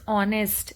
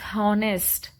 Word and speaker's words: honest: example if it is honest and we know that H is silent but still many of them pronounce it as honest then it will be